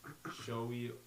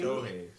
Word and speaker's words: Shohei: We got Josh Allen of the Buffalo Bills, Saquon Barkley, Philadelphia, Shea Gilgeous-Alexander, Oklahoma, Shohei Ohtani from. Nah. Did I butcher that? You butchered it. a Shohei little bit. Ohtani? Shohei.